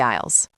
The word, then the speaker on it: aisle: Don't worry, we just need to check the signs above the aisles. Wait, that word is tricky. It's spelled A-I-S-L-E.